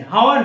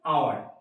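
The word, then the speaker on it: hour: দেখো বোঝো, অ্যান আওয়ার, এখানে এইচ আছে, হাওয়ার হলো না, কি হলো? আওয়ার।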